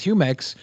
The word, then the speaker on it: Jumex: I try but it's it's definitely Spanish like you know it's it is humex but if you're not